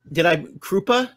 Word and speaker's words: Crupa: So, Krupa?